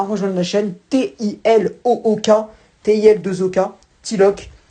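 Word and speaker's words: Tilook: Donc n'hésitez pas à rejoindre la chaîne T-I-L-O-O-K, T-I-L-2-O-K, Tilok ou Tilouk. Enfin, moi je prononce Tilok, mais bref.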